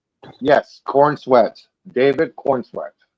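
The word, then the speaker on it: Corenswet: Is it really Cornswe? Yes, Cornsweat.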